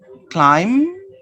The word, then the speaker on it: climb: with this sound note b is silent at the end of a few words listen and repeat climb and notice but is not pronounced the letter b is